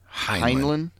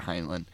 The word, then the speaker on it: Heinlein: Heinlein. That sounds very German. But anyway, so I got to read this really quick. So it's a military science fiction novel by American writer Robert Heinlein.